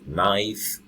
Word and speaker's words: knife: consonants K in n the K the sound is silent so no me no no it's a trademark okay those things that used to cook with those flavors so no me no knife and many others that